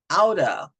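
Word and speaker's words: outta: so you really you the t's would turn into D's out of let's get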